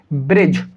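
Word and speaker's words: bridge: आपने देखा यहाँ पर जी है और जी से पहले डी लिखा हुआ है, जी से पहले डी है, तो इस कंडीशन के अंदर डी साइलेंट होगा।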